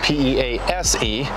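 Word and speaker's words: Pease: That's P-E-A-S-E, not Peace, but Peas.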